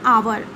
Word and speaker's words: hour: इसी प्रकार से कुछ और हमारे पास एक्सेप्शंस हैं, जैसे आवर, HOUR, आवर यानी घंटा, उसके आगे में भी एन लगता है क्योंकि ये वर्ड स्टार्ट